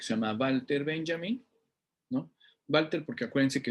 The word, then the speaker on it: Walter: llama Walter Benjamin no Walter porque acuérdense que la W en alemán se escribe se escribe la W pero se pronuncia como V no Walter no Walter